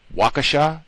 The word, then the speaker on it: Waukesha: Is it Waukesha? Is that the correct pronunciation?